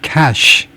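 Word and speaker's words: cache: to inspect the massive cash 이거 현찰하고 발음이 똑같습니다.이 엄청난 매장량이요.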